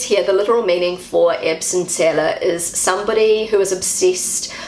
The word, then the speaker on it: Erbsenzähler: And the word that they use in German to describe a person like this is an Erbsenzähler. This is how Google pronounces the word. Erbsenzähler. Erbsenzähler.